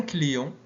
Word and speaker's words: client: Un client, un T.